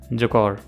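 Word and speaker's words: Jaguar: जकौर है, वैसे उसको आप जैगवार भी बोल सकते हो, बट इट्स एक्चुअली प्रोनाउंस्ड जकौर।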